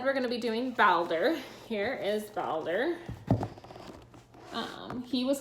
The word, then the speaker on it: Baldr: norse god Baldur and it is Bowser I looked it up I thought it was Balder but then I looked for pronunciations and found out otherwise I'm gonna be telling